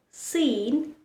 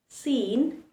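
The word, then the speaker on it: scene: He remains silent when it is following the letter S, like in words muscle, seen, fascinate, C is following the letter S, and so it likes to remain silent. Yes, so every time you pronounce these words, remember to keep the letter C silent. Muscle, seen, fascinate. Only pronounce the S, not the C.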